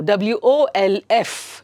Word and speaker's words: wolf: Then now WOLF is pronounced as wolf, wolf, food, good. Okay, so therefore it is wolf. Andre illi only one o is there.